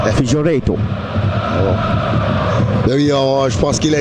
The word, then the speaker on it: Figueiredo: Oui, je pense que je vais prononcer avec l'accent Figueiredo.